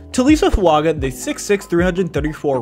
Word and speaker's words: Taliese Fuaga: fuaga Prospect breakdown and yes it's how you pronounce his name TSA fuaga the 66 334 right tackle from Oregon state